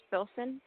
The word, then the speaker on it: Filsan: My name is Filson. Spell it for me, hon. Filsan, like Nancy.